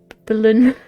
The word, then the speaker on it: Berlin: But I I hope that they will have another Berlin Berlin. Like how I just said the German pronunciation there.